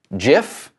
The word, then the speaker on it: GIF: The creator of this has claimed that the proper way to pronounce it is GIF.